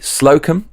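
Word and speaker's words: Slocombe: how to pronounce it s l o c o MBE slokum Douglas slokum give this I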